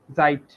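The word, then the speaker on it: Zeit: জাইট, সময়। সাইট, হ্যাঁ এস এর উচ্চারণ জাইট।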